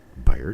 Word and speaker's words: Beyer: Buyer, just like a buyer, someone who buys.